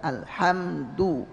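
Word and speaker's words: الْحَمْدُ: Jadi bisa perhatikan mulut saya setiap u itu bibir dibulatkan. Alhamdu ya, du ini.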